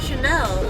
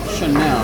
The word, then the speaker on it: Shanell: It was like, just what do I do to be mean to Chanel?